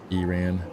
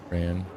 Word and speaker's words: Iran: I don't want to be that guy, but it's pronounced Iran, not Ran.